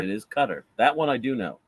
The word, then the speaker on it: Qatar: I've heard a lot of people pronouncing it Qatar, but that's incorrect. It's Qatar. It is Qatar.